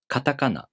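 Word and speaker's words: カタカナ: For example, katakana. The second and third syllables are pronounced higher in pitch, and the first and the last syllables are lower in pitch. Katakana.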